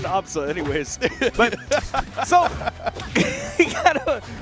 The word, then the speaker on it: Absa: It's funny because her name is pronounced Absa anyways.